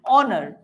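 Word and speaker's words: honour: ইট was dash হনার কি বলছো তোমরা উচ্চারণ কি হনার করছো নিশ্চয়ই না আমরা উচ্চারণ করছি কি অনার তাই না সো এই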